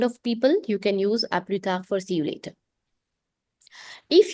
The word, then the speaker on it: à plus tard: This one is pronounced as à plus tard. Plus is silent, tard, D is silent. So à plus tard.